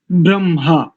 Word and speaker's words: ब्रह्म: इसमें बकार के बाद रेफ, रेफ के बाद हकार और हकार के बाद मकार है। ब्रह्म, ब्रह्म नहीं है। अधिकांश लोग ब्रह्मा ऐसा उच्चारण करते हैं। इसका शुद्ध उच्चारण ब्रह्म, मां बाद में है और मकार पूरा है, हकार आधा है। इसमें देखने में ऐसा लगता है जैसे मकार आधा हो और हकार पूरा हो, वास्तव में उल्टा है।